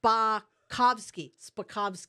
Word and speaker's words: Spakovsky: Spakovsky.